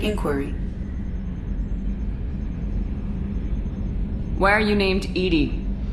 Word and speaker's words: EDI: why are you named ed ed is the phonetic pronunciation of EDI that is an acronym for enhanced defense intelligence how are you getting along with Joker mr.